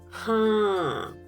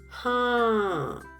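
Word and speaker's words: हाँ: Haan. Again, use of nasal sound. Speak with me. Haan.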